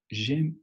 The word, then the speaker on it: J'aime: Aquí volvemos a encontrarnos la letra E que no se pronuncia. Aquí si aplicamos la letra muda, pues nuestra palabra ya tiene más de 2 letras. Aquí sí evitamos el sonido.